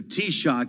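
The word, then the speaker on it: Taoiseach: Biden meets today with the t-shock you got that everyone got the pronouncer that's the Irish Prime Minister makes the annual visit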